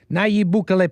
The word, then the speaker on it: Nayib Bukele: Nayib Bukele, president of El Salvador since 2019.